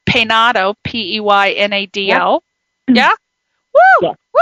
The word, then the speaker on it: Peinado: I hope this is pronounced right. Peinado, P-E-Y-N-A-D-O.